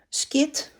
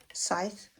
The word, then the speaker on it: Scythe: Some people call it skit or Scythe, but I actually like the English pronunciation, Scythe.